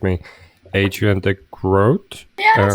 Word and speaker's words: Adriaan de Groot: pronunciation, please correct me, Adrian de Groot. Yeah, that's not bad. Adriaan de Groot is what I would say in my native language.